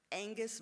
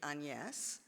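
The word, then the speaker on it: Agnès: pronounce her name correctly the French way which would be anes and but I just thought it was Angus varda and then I saw the credits and it was Agnes v as I would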